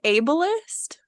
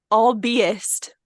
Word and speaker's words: ableist: from the internet but I recently realized I'm saying it wrong the word ableist that's a word right no all Beast is how I was reading it in my head b-e-i-s-t yeah I guess